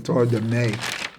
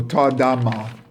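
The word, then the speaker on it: תרדמה: How do you pronounce it again? Tardame. No, Tardama.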